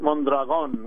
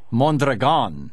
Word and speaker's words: Mondragon: Pronounce it Mondragon with the accent on the last syllable. Mondragon, okay.